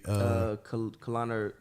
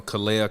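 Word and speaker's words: Kahleah: Kalana, I don't want to say her name wrong. Kalana Copper? No. Kalea Copper.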